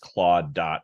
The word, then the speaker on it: Claude: AI website and then Claude is just claw.